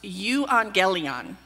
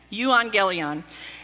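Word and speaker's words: εὐαγγέλιον: a funny sounding word in ancient Greek it's pronounced you angelian and by the way that's with a little bit of a Texas accent okay you angelian it was translated into Old English as Godspell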